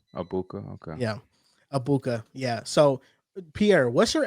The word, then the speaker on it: Ebuka: How do you pronounce his name? I know him, the receiver, Abuka. right? Abuka. Okay. Yeah, Abuka.